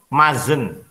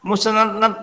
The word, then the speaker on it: mustn't: Ini enggak susah bacanya. Mazen. Mazen. Nah, kok tulisannya musenet-net? Nah, musenet-net. Nah, kamu kan ngawur. Kalau kayak gitu. Salah baca.